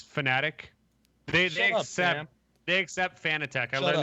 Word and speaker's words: Fanatec: They understand that most Americans call it Fanatec, and they've accepted that that is a pronunciation that is used. But I think the original intention, he said, was fanatic, like a fanatic, you know. But Fanatec works too.